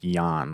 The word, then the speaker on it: Jan: Yeah, but it's pronounced Jan, like you're about to fall asleep.